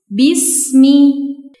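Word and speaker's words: بِسْمِ: Pertama, dalam kalimat bismi di sini terdapat huruf sin sukun yang dibaca dengan mengalirkan udara atau desis. Karena huruf sin memiliki sifat saofir, jadi bacanya seperti ini. Bism bismi. Kedua, dalam lafaz arrahmani.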